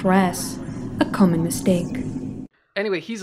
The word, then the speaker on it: Ra's: Talia says that his name is pronounced Ra's. And there's a common misconception that his name is Raz.